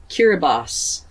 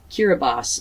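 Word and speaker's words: Kiribati: to look it up to see how to pronounce it it is kiribos kiribos so if you know anything at all about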